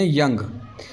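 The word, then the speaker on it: young: word की तो इसमें यंग यंग में देखो ध्यान से कि ओ यू आ रहा है यहां पर ओ यू का लेकिन साउंड ऐड नहीं हो रहा है ओ यू का साउंड क्या है साइलेंट है तो क्या बन गया याय अंग ग यंग ठीक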